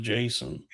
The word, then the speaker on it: JSON: .json Yeah, I think it's pronounced Jason.